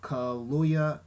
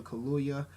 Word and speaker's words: Kaluuya: You also have Lupita Nyong'o, Forrest Whitaker, Andy Serkis, the dude from Get Out, Daniel Kaluuya. Yeah, I think that's how you pronounce his last name, Daniel Kaluuya from Get Out.